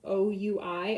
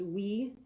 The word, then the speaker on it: oui: For those of you who eat the yogurt, it's spelled O-U-I. I think that's oui in French.